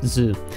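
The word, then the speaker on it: ず: one we had right so this su would turn into zoo if you add 10 10 it is now zoo zoo all right and say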